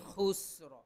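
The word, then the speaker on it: خُسْرٍ: ইনসানা লাফি খুসর লাফি খুসর ফি এখানে এক আলিফ টান হবে খুস খু খু হলকের কণ্ঠনালীর শেষ থেকে খু খুস খুস খুস শেষে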